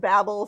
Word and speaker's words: Babel: And I'll just say here, the pronunciation of the title depends on where you live. So yes. Babel, I guess, for the Brits, and Babel for those of us in the U.S.